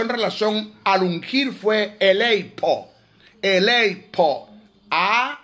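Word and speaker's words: ἀλείφω: relación al ungir fue elipo elipo Ah alipo alipo a l e i p h o que se pronuncia alifo aleo que es el que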